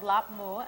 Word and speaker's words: Larbmoo: Well, you would spell it L-A-R-B and then M-O-O, like a mooing cow, but so you pronounce this? It Lap with a P.